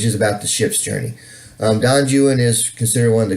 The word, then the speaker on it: Don Juan: To have you read everything from Don Juan and it's actually pronounced Don Juan, not Don Juan.